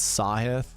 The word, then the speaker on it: Sahith: but I'm pretty sure sure it's sahith and I think it's just theala not like tala yeah so it's sa